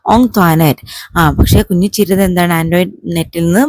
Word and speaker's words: Antoinette: കുഞ്ഞിച്ചിരുതയുടെ പേര് പറയാൻ പറ്റാത്തതുപോലെ തന്നെ ആന്റോയിനെറ്റിന്റെ പേരും കുഞ്ഞിച്ചിരുതയുടെ ക്ലാസ്മേറ്റ്സിനും ടീച്ചേഴ്സിനൊന്നും പറയാൻ ബുദ്ധിമുട്ടുള്ളതായിട്ട് കുഞ്ഞിച്ചിരുതക്ക് മനസ്സിലായി. Most of them pronounced it ആസ് ആൻ ആന്റോയിനെറ്റ്.